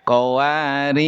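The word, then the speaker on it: قواريرا: Terus yang keempat, jika waqaf di qwari ro yang kedua rnya dibaca panjang pakaji. Jika wakaf dikwari ro yang kedua rnya dibaca sukun maaf dibaca sukun. Iya. Qawar.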